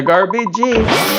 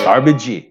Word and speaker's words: garbage: Garbage, not garbagee, not cabbagee, cabbage.